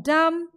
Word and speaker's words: dumb: So B in climb, B in dumb, B in calm, and B in numb. Everywhere B is silent.